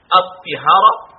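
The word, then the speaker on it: الطهارة: Ensuite, si nous allons prononcer le taï avec le son de i, at-tihara, ce sera le récipient qui a été utilisé pour se purifier.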